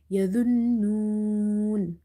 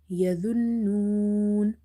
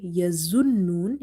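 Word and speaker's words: يظنون: be extra careful, because if you say yazunnun, it will be wrong, because this the will be replaced with the other za, and if we do this, then it will be lahne jali, which change the meaning of Quranic words.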